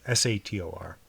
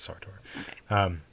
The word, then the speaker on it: Sator: Oh, I mispronounced it then. It's Sator, not Sartor.